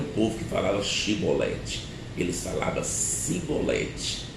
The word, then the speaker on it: Chibolete: o vocabulário correto e o vocabulário que eles usava era simbolete e por causa disso naquele dia 42 mil pessoas fugitivas foram degoladas foram mortas porque eles não puderam pronunciar corretamente chibolete por isso fica aí